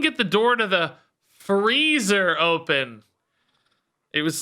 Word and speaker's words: Frieza: It's pronounced freezer. Fire Diablo and Fell Diablo. Thanks for the 20 months. Who cares, dude? You guys don't call it Frieza? we call it the Frieza.